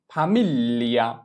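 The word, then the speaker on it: famiglia: এফ এ আ ফা, এম এ ই এল এ মিল, এল ই আ লিয়া, ফামিলিয়া, ফামিলিয়া। তাহলে যদি আমরা জি কে বাদ দিয়ে উচ্চারণ করি তাহলে আমাদের উচ্চারণ কি আসে ফামিলিয়া, ফামিলিয়া।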